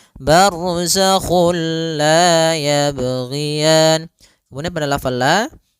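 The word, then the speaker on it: بَرْزَخٌ لَا: masuk barzak kulla dan dia bila gunah berarti tidak boleh disertai dengan gunah tidak boleh ada penahanan tidak boleh barzakul la enggak boleh tapi langsung saja barzakhul la yabian Kemudian pada lafal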